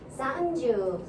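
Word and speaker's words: さんじゅう: 그래서 얘를 우리식 생각으로 해서 산주, 연주, 너무 산, 연 이렇게 짧게 하지 마시고 좀 길게 해주세요. 그러니까는 원래는 사, 은, 주, 사은주, 요은주 원래 발음이 이거예요. 응 발음도 해주셔야 된다는 거 한 번 더 해볼게요. 산주, 연주.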